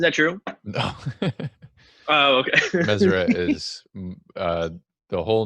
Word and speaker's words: Meseret: So Meseret is the correct way to pronounce it. I've heard Meseret, where a lot of people think the T at the end is silent.